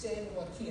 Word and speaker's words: San Joaquin: It's pronounced San Jose, the California says. We pronounce the J like an H in California.